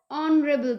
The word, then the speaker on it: honorable: next is honorable hair h is silent so we pronounce it as honorable person so it's an honorable